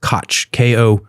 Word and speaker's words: Kocs: It's pronounced Koch, K-O-T-H, that's how it's pronounced.